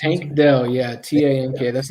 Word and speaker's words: Tank Dell: The wide receiver you mentioned, so it's Tate Dell? How do you pronounce it? Tank Dell, yeah, T-A-N-K.